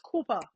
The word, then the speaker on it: Koopa: So, it's Koopa. Koopa. Yeah. If you got the accent, you put that on it, then it come out even better. Now, there you go.